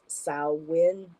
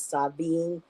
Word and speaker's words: Samhain: practices so just really quick sin uh is pronounced sawin um it's been written as pronounced as Savin uh some people pronounce it Sam Hayne um and here in the United States we